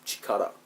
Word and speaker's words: 力: by itself this kanji means power and it's Chikara she cut it's pronounced and they say that in Dragon Ball